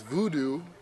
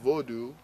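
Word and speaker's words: vodou: And at this time, I didn't have any understanding for the religion of what's termed as voodoo, you know, preferably pronounced vaudou, you know.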